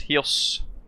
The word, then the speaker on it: Chios: Vagelis, hello, pronounced Hios.